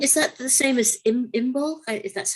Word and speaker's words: Imbolc: But yeah, I think is that the same as Imbolc? If that's how you pronounce it? Yeah. So Imbolc is the coming of spring, yeah, and all